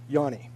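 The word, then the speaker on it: Ioane: is Taylor Yani and I asked him this week is it Yani and he said yes but it's spelled all right o a n e and so in my brain I always say ioni because it helps me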